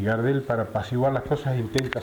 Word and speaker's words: Gardel: Un día un anunciador lo pronunció Gardel, a él le gustó y quedó Gardel.